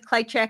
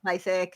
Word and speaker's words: Klyczek: I think it's KLYCZEK. And the proper pronunciation, I think, is Klychek, but he does often say Klychek.